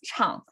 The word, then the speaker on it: 唱: there means sing and the pronunciation is chang and the right side